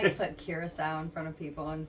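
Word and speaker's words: Curaçao: People don't know how to say it. It's curacao. Curacao. Yeah, like the country.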